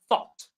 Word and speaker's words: thought: The past of think is thought. The GH is silent.